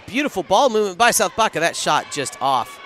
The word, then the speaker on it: Baca: Apparently, B-A-C-A is pronounced Baca.